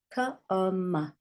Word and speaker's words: come: Come. And you can't hear the E.